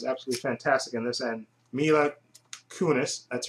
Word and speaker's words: Mila Kunis: Denzel Washington is absolutely fantastic in this, and Mila Kunis, that's how you pronounce her name.